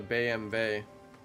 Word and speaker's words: BMW: In Germany, it's called a Baymay, but that's just how they pronounce their letters in Germany.